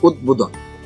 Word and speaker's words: উদ্বোধন: উচ্চারণটি অনেকেই ভুল উচ্চারণ করে আসলে এর সঠিক উচ্চারণ হচ্ছে উদ্বোধন উদ্বোধন উর্বশী উর্বশী সঠিক উচ্চারণ হচ্ছে উর্বশী অনেকে